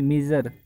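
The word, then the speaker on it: measure: वैसे तो श्योर लग रही है, एस यू आर ई श्योर, लेकिन वोवल के बाद आए किसी शब्द के अंदर तो ज प्रनाउंस होएगा, जैसे मीज़र है ना, तो मीज़र, तो ज ज के लिए क्या आएगा, थ्री लिखा जाएगा।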